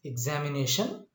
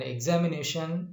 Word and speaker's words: examination: The primary stress is on the fourth syllable from the beginning.